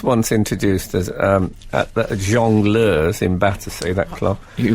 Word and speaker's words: jongleur: I was once introduced as, at the Jongleurs in Battersea, that club.